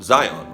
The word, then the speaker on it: Zion: Again, this is Mount Zion or pronounced Zeon.